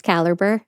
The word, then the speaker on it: caliber: 26 Caliber Caliber 26 caliber handgun car I was just trying so hard to power through it put the emphasis on the other syllable caliber from there he progressed